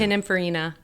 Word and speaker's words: Pininfarina: How do I pronounce that? I can never say it. Pininfarina.